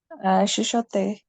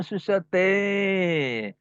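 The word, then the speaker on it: chuchoter: Chuchote. Oh, susate. Oh. so so you don't pronounce R, yeah?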